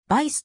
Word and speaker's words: Weiss: のフィギュアスケート選手ウェイズはドイツ語でヴァイスと読みドイツからオランダに